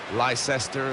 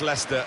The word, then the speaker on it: Leicester: Lysester, Lychester. We got a lot of that, didn't we? But very much Leicester and very much the leaders.